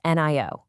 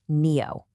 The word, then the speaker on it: NIO: It's not NIO, it's NIO, pronounced NEO.